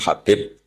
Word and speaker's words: Habib: Ada yang nulis Abi Abdurrahman Habib Asulami. Itu di harakatnya kitab itu ada yang nulis khubb. L yang benar. Oh, nggih. Yang benar itu bacanya Habib. Habib itu sulami itu ikut